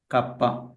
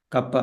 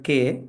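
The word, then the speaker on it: kappa: It should be pronounced as kapa. It's a Greek letter kapa.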